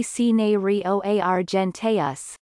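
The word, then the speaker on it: cinereoargenteus: The scientific name of cinereo argenteus, pronounced roughly cinereo argenteus, is a combination of two Latin words.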